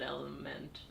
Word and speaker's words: LMNT: yeah yeah that's cool i think you might pronounce it element not element whatever because if i said element